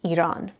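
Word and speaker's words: ایران: So we said that if we want this E sound at the beginning of a word, we have to add alif, like Iran.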